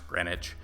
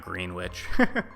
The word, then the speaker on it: Greenwich: Greenwich Village is pronounce Greenwich you know it's not green witch so um but yeah